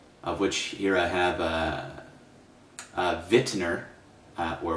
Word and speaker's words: Wittner: So the major types, the first one is the mechanical metronome, of which here I have Wittner, or Wittner, as you might pronounce it in English pronunciation.